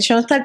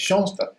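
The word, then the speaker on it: Schoenstatt: Y Shstad se escribe como lo están viendo en la pantalla, ¿verdad? Porque le sonará que es Shstad.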